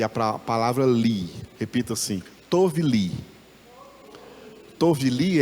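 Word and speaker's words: טוֹב לִי: Repita assim, tovli.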